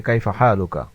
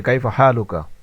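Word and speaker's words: كيف حالك: সর্বপ্রথম যে বাক্যটি নিয়ে আসা হয়েছে সেটা হচ্ছে কাইফাহালুকা। উচ্চারণ দেওয়া রয়েছে সাথে অর্থও দেওয়া রয়েছে এবং আরবিতে আমরা জবর জের লাগিয়ে দিয়েছি আপনাদের সুবিধার্থে। তো সর্বপ্রথম বাক্যটি হচ্ছে কাইফা হালুকা এর অর্থ হচ্ছে আপনি কেমন আছেন?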